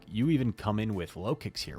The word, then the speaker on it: Lokix: been a while like I could see it being like lowkey or something but no I'm just I'm sticking with low I'm committed I'm committed to low kicks as the pronun pronunciation it sounds kind of like low kicks X scissor um and